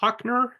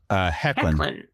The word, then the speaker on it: Hoechlin: Literally immediately in season 2, they have Tyler Hoechner. Is that how you pronounce his last name? Hoechlin.